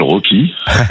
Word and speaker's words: Rocky: Alors, il s'appelle Rocky. Voilà. Voilà. Rock- E avec une prononciation anglaise.